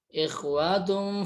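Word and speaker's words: إِخْوَةٌ: Innamal mu'minuna ikhwatun fa'as. Ikhwatun. Nah, di sini bertanda ikhfa, yang mana ikhfa hakiki, teman-teman. Maaf, ikhfa hakiki yang mana domah tain, nih domah tain bertemu dan huruf fa.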